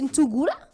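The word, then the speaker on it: Nsungula: C'est Nsugula N-S-U-N-G-U-L-A.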